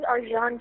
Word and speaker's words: Arcan: His name is Arjan Chetin, and he's Oh, shit. Yep. from Turkey, so it's a little strange name, but it's spelled Arcan.